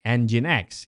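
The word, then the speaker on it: nginx: Engine X diucapkan engine X dan ini adalah jenis khusus server web yang dirancang untuk secara efisien menangani banyak pengunjung pada saat yang bersamaan.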